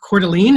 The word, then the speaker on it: Coeur d'Alene: superstar agent from idaho um i came to pronounce the city court coeur d'alene is that right yep you get it all